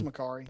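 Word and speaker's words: Makkari: It's Makari, yeah.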